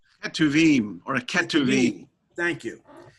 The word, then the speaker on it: Ketuvim: Torah, and then Nevi'im, and then I can't pronounce it, Ketuvim. Ketuvim or a Ketuvim.